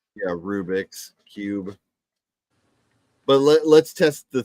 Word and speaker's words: Rubik's Cube: it probably is actually Rubik Cube someone said not the look up Rubik's Rubik is the Creator's name so it is his Cube so it's pronounced Rubik's Cube okay so I'm a